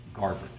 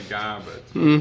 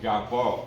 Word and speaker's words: garboard: we're putting on the Garboard. Garboard. But you know, Garbot, you know, if you're in French, it's the same word basically, but definitely the R is normally pronounced.